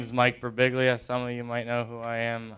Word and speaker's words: Birbiglia: am I ever e1 pronounces my last name wrong telemarketers call to be like good afternoon may I speak with mr. oh man good big boo I'm like yeah big boo doesn't live here anymore even automated telemarketers